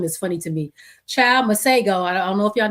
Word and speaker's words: Masego: So apparently the correct way to say his name is Masego. But I guess he don't know his name either, because he's been calling himself Masego.